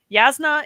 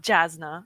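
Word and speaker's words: Jasnah: Yasna is not Jasna.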